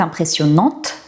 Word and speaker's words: impressionnante: Donc là, je montre à quel point cette mosaïque est impressionnante au féminin. C'est impressionnant. Ce décor est impressionnant, cette mosaïque est impressionnante au féminin, donc je prononce le T.